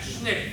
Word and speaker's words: SNCC: All right, they pronounced that SNCC.